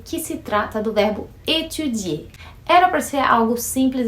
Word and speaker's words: étudier: E vamos relembrar a pronúncia do verbo étudier. Étudier, que puxa no i, é para dizer eu estudo e eu estudo, tu estudo, mesma pronúncia.